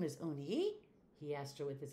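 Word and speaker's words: Unhei: Yes, it's pronounced Eun-hye. And it means grace, Mr. Kim added. Eun-hye, Joey said slowly, and this time perfectly.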